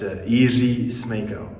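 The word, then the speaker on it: Jiří Smejkal: Yeah, it's Jiri Smejkal. Yeah, that's hard for us Swedes to pronounce.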